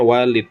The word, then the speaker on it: walid: Kalau ada waw, lam, dal, tapi dipisah oleh alif ya, bacanya walid, artinya bapak.